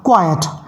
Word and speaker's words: quiet: इसमें मैंने ई और टी को एक्सचेंज कर दिया, उनकी प्लेसेस को इंटरचेंज कर दिया है, और जो वर्ड बन गया उसका जो प्रोनाउंसिएशन होगा वो होगा क्वाइट।